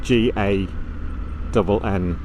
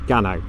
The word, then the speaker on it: Gannow: This is called Gannow Top, but it's spelt G-A-N-N-O-W, which is Gannow to most people, but to the locals it's Gannow.